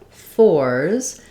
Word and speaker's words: fours: but fairly similar pronunciation the only difference between force and fors is that Force the letter c say the s or S sound and fors the letter s says is the z sound um because of this